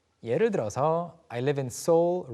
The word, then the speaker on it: Seoul: 네, 한 음절처럼 as if Like it's just one one syllable.